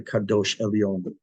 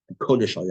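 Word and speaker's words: קודש עליון: That's the kadosh elyon. That's the we'll get the right word here. Let's see. Let's see. Kodesh elyon. I knew I said it wrong.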